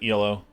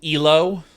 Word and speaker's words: Elo: his friendly reminder that elo is not an acronym yet technically it is elo but e-l-o is an accepted pronunciation due to how [